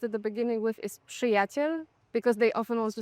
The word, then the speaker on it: przyjaciel: say my friends, and when you see it written, it's PRZ. PRZ, PRZ, przyjaciel. And many people try to say przyjaciel, Przyjaciel, yeah. and it's just like a consonant cluster that you read as przy.